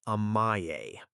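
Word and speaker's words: 甘え: So what is Amae? And why does it work where timeouts fail? Amae is pronounced A-ma-e.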